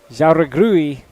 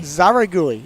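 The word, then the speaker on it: Jáuregui: Victoria Jauregrui and Aoi Koike. Zaragui. Is that how you pronounce it with a J? Yeah. Would you say Jaya or Zaya? Kind of H. Kind of make that J a H.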